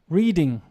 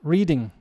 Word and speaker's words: Reading: Okay, for example, reading a book, reading, wrong. The pronunciation of this is Reading. Reading.